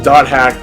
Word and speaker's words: .hack: you see that it's dot hack fragment you don't pronounce the slashes that's just how the franchise chooses to highlight their different entries um my definitions sure